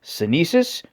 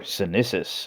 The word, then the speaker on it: Sinisys: It can either be pronounced Sinisys or Sinisys, I guess depending on where you're from.